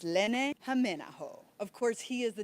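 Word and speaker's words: Lenni Hämeenaho: Thing you need to know is how to properly pronounce his name. It's Len Jameo.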